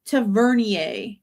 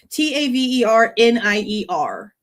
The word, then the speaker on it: Tavernier: Tavernier is how I'm assuming it's pronounced cuz I'm Cajun and that would make sense. T A V E R N I E R Tavernier or Tavernier.